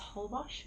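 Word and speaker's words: Holbox: ended up coming across I think it's pronounced whole Bosh it was that's for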